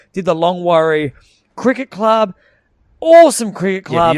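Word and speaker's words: Longwarry: last night did the long worry because it's long wary but they pronounce it worry did the long worry cricket club awesome cricket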